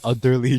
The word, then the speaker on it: Udderly: oh, wait, it's actually spelled utterly. Yes. It's UDDERLY. So I'm not even wrong for pronouncing it like that. It's actually utterly chocolate.